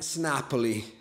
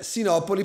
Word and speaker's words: Sinopoli: diceva carian kliber and snapi eh cioè Sinopoli pronunciato all'americana che ci sta che un americano pronunci Sinopoli snapi Il problema è che